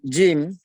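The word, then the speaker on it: ج: yang Syekh yang benar huruf hijaiyah itu tidak ke dengan huruf jazim dalam pengucapan bahasa kita sehari-hari misalkan kita mengatakan Jalan jika aja uh yang rujak ya kita ucapkan biasa jalan jauh dengan jalan tapi kalau ajim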